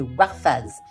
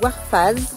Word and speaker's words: Warfaaz: C'est comme Call of Duty. Call of Duty Modern Warfare. Bah, c'est pareil mais vous rajoutez un Z.